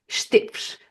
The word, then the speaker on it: Esteves: Esteves, I would say, because it's the pronunciation in Portuguese.